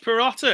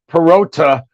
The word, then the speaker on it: Perotta: ice cast live and welcome peratta am i saying it right you are saying it right you are like one of the first persons in like decades to say my friggin name right because it's always perota or pierogi or something like that or ricotta like some